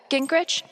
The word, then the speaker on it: Gingrich: steph uh gingrich is that how you say it yeah that's